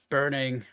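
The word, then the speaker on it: Burningheart: your name burning har All Right burning how do you spell that last name b u r n i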